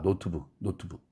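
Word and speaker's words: notebook: 그런데 한국 사람들 다 노트북 이렇게 얘기해요. 음절 하나 더 늘어났죠. 노트북 두 음절짜리 단어인데 노트북 3음절로 잘못 늘어난 겁니다.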